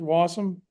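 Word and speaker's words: Wasm: What are people's opinion of of of wa wasum? Is that how you pronounce it? Wasom. Yeah.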